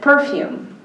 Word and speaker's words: perfume: as salad uh uh perfume is okay for us right most people here say perfume but the British said perfume and so that is